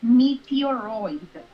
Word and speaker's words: meteoroid: a meteoroid a mirror okay meteoroid like roid correct you're gonna have to